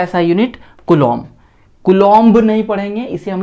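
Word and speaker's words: coulomb: ये बी को हम लोग नहीं पढ़ते हैं, इसे साइलेंट रख देते हैं, एक्चुअली इसे पढ़ते हैं कूलॉम, और इसे हम लोग रिप्रेजेंट करते हैं कैपिटल सी से।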